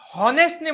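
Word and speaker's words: honest: अवर येतंय लक्षामध्ये याला ऑनेस्टने म्हणे मी ऑनेस्ट इथं एच काय आहे सायलेंट तर उच्चार कुठून होतोय ओ पासून म्हणून अन ऑनेस्ट येतंय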